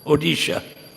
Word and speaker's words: Odisha: vindaman he was from orisa odisha how do you pronounce it now odisha right they changed the spelling English spelling and he would go